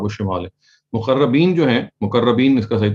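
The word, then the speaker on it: مقربين: مقربین جو ہیں, مقربین اس کا صحیح تلفظ ہے, یہ تو سابقون کی کیٹیگری کے لوگ ہیں.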